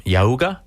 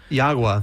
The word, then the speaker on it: Yagua: Um, tell me a little bit, Drew, about the um, and tell me if I'm pronouncing this right. Um, Yahooa. Yagua. Yagua. Yagua. That's right.